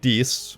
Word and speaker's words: Dis: No more is this more apparent than in the city of Dis, which is apparently pronounced Dite in Italian.